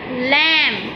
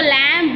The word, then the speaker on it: lamb: L, lamb. इसको lamb नहीं पढ़ना, इसको lamb पढ़ना है. बी की आवाज़ नहीं निकालनी, इसकी साउंड साइलेंट होता है, बी साइलेंट होता है, इसकी साउंड नहीं आएगी.